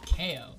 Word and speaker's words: Keeoh: It's technically actually pronounced Keeoh. Oh. But everyone just called me Keeoh, so I kind of just went with it.